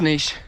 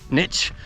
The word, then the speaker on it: niche: nice and it's pronounced niche not niche that sounds like it's niche it's french niche like quiche you know would you